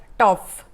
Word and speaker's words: Topf: तुम्हाला ऐकून खूप आश्चर्य वाटेल की जर्मन भाषेमध्ये भांड्याला म्हणतात टॉफ, म्हणजे TOPF असं त्याचं स्पेलिंग आहे, शेवटी एकदम थोडासा असा एफचा उच्चार आहे।